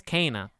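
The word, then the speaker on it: Kena: that goddamn game's name but it's kana which is the last thing i would think of for how you pronounce it but yeah that come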